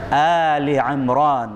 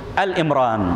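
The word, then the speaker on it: Āli ʿImrān: 135 hingga ayat 136 ya bacanya Ali Imron Maksudnya apa keluarga ya hal ini keluarga-keluarga Imron eee karena yang kita dengar dia baca ataupun disebut al-imran bukan Al Imron Ali Lan Tuh buka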